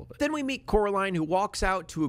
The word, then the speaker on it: Coraline: her name wrong constantly they call her caroline instead of coraline because my wife's childhood